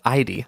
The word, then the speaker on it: Ide: The story to begin with is how I got to the little ghost girl that follows me everywhere named Ide, or pronounced Idie.